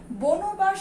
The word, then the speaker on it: বনবাস: কিন্তু এটা কি আমরা বনবাস উচ্চারণ করি নাকি বনবাস উচ্চারণ করি? আমরা এটাকে কিন্তু উচ্চারণ করি বনবাস। যদি বনবাস উচ্চারণ করি তাহলে কি বানান লিখবো আমরা উচ্চারণে গিয়ে, বাস। এই দন্তস্বটা এখানে তালব্য স হয়ে গেল।